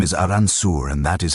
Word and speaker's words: Arkansas: The name comes from a French interpretation of a Native American word and the proper pronunciation reflects that French heritage. So they made it official. The name is Aranssour and that is how it shall be spoken.